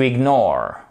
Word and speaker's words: ignore: Apostrophe ici, on a notre accent tonique qui commence sur le N et la fin du mot. To ignore.